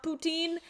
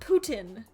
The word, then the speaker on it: poutine: No, not Putin. Poutine.